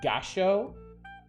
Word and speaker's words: Gallo: Gallo means rooster. Pronounced Gasho.